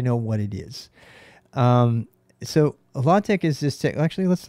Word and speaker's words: LaTeX: Knuth pronounces it LaTeX.